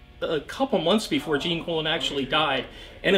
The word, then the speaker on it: Gene Colan: art by the masterful gene colon i know it sounds awkward but that is how you pronounce his name i looked it up